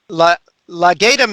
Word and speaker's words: Legatum: help me with that how do you pronounce that you got it perfectly right there uh legatum institute all the gatum institute one of the two all right sean has